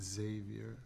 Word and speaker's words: Xavier: with the next project what was it about Xavier that attracted you uh I pronounce it Xavier sorry um there it was a big source